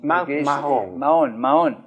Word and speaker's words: Mahón: Mahón, la H no se pronuncia.